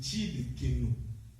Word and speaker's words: Tsidkenu: C'est Tsidkenu. Il y a surtout les Balouba qui peuvent bien le prononcer parce qu'il y a avec les Tchi, c'est un peu ça. Mais ce n'est pas le Tsidkenu, c'est Tsidkenu.